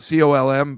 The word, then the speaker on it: Colm: His name is spelled Colm, but he called him Colm, I guess.